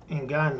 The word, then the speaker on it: Ngannou: Ngannou.